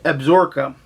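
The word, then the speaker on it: Absaroka: Craig Johnson lives in which is I believe absorca um I believe that's how it's pronounced for real it is however wide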